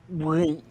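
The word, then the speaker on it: Winx: n x w i NX yeah but it's pronounced wins Winks Winks Winks yes win fate the Winks Saga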